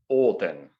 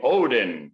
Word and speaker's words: Odin: It's just that because of how Scandinavians pronounce things dialectically, phonetically, it's still Olten, but it's Olden, right? And it became Odin, which is wrong.